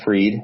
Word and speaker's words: Fried: on twitter is Jason freed and that's spelled Fri Edie like fried so jason freed on